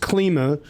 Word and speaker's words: Klima: So it's pronounced Klima.